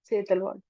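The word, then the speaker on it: Setalvad: एमसी सेतलवाड। अब इसको आप प्रोनाउंस कर लेना, SETLVAD।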